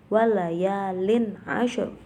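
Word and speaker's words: وليال عشر: Terakhir di situ ada ro tafkhim atau ro yang dibaca tebal karena di situ ada ro yang dibaca sukun, kemudian sebelumnya itu didahului dengan huruf yang berharokat fathah, maka dibacanya tebal walayalin ashr.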